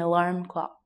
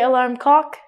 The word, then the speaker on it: alarm clock: But please, please, please, when you say this word, do not say this word by mistake. Alarm clock. You have to L right there. If you say alarm cock, cock means penis.